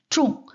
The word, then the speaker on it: 种: a la primera palabra Es un carácter polifónico Aquí es verbo, así que se pronuncia "zhòng" Cuando se usa como sustantivo se pronuncia "zhǒng", semilla Ellos plantaron muchos